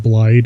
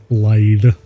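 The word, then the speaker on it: Blaidd: It's not Blythe, it's Blythe. Like with a T-H-Y-E. And I think it's Welsh.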